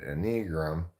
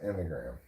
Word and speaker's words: enneagram: That's why for a long time I said enneagram, because that's what it looks like, but it's actually pronounced enneagram.